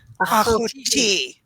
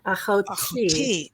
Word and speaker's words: Ahoti: Ahoti. Ahoti. Last emphasis on the last syllable. Okay. Ahoti.